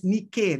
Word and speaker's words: Nike: this greek mythologies you find that the goddess nike originally pronounced as nikkei that's the that's the pronunciation was the personification